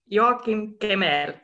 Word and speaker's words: Joakim Kemell: How do you pronounce his name? Joakim Kemell. There we go. Joakim Kemell.